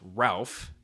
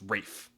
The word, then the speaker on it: Ralph: Well, even though you may think his name would be pronounced Ralph, it's Rafe. Rafe von Williams was a